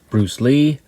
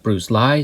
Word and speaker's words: Bruce Li: This week we're taking a look at the film Dynamo, starring Ho Chun-tao, who is known as Bruce Lee, L.I., or sometimes pronounced Bruce Lie.